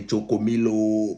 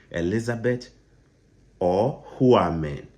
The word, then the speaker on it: Elizabeth Ohuamen: Don't say Chokomilo. My name is not Chokomilo. Elizabeth Ohuamen.